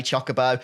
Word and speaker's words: chocobo: The amount of hate I've gotten over the years every time I say chocobo, I feel like I'm kind of vindicated now because that's the only way that word is pronounced in this game.